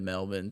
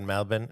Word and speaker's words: Melbourne: he was there because he said Melbourne instead of Melbourne. Yeah. Melbourne. Melbourne. That's how they say it. They Melbourne. I'm like, I hear some of those consonants in there when you say it, like, Yeah. they're not like Melbourne. Yeah, They're you're like, Mel- I only know how to say it with the R, with the ER.